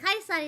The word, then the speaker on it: Caesar: And Kaisar is how Caesar is pronounced here.